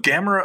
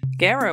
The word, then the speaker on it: Gamera: Gamera was originally named Kamera, based on the Japanese word for turtle, kame. Since this is identical to how the Japanese pronounce the word camera, Kamera, Gamera's opening consonant was altered for more pleasing lip and tongue action in Japan.